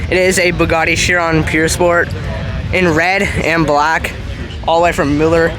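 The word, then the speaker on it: Pur Sport: w16 there we go it's actually the pure sport not purse it's the way they pronounce it in French now the 300 plus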